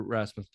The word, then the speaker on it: Rasmus: I never pronounce this guy's name right. Rasputin. No, Rasputin. The Russian gypsy who like started World War One, but no, Drew Rasmus, 2.3 ERA.